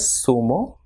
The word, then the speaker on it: zumo: Same way, ZONA will be pronounced as sona, and ZORRO will be pronounced as sorro, and ZUMO will be pronounced as sumo, and ZURDO will be pronounced as surdo.